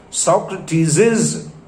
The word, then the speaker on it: Socrates's: only with an apostrophe remember the extra s which is missing which is hidden must be pronounced that is socrates's philosophy so that saw sound would come twice first s with the name socrates and second s which you have not written that is hidden but you must pronounce this may sound a